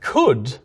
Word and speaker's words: could: We actually did used to say wolder and shoulder, the ancestors of would and should. We stopped pronouncing those L's, but we kept the L's in. But could never actually had the L in the first place.